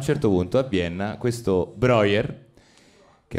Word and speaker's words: Breuer: Quindi, diciamo che siamo a Vienna, nel 1880, c'è Joseph Breuer, credo che si pronunci così. Breuer. Breuer, vedi , Breuer? Oh beh, perdonami, è tedesco. Sembra il comitato.